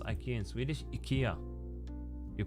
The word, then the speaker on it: IKEA: easily how do you pronounce Ikea in Swedish Ika you pronounce it Ika let me see montering a document oh there it is here I downloaded the PDF that shows me how to amount it Ika yeah that's how we pronounce it Ikea Ikea